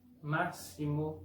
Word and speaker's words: máximo: Por ejemplo, caixa con sonido de SH, máximo con sonido de S, exato con sonido de la Z portuguesa, táxi con sonido de XI, de KS.